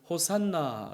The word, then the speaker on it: 호산나: 쉬 하나입니다 호시 않아 이것이 아람 으로 어 호산나 가 된 것이죠 예수님 당시에는 알아 모를 수 없지 않습니까 그래서 이 때 당시 사람들은 호산나 라고 이것을 발음 하며 외쳤던 것입니다 유대인들은 이 시편의